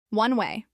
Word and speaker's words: one way: One way, this is pronounced as two words with equal stress.